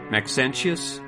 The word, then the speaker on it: Maxentius: uh 305 of alexandria egypt under uh max maxentius m-a-x-e-n-t-i-u-s persecution i don't know how to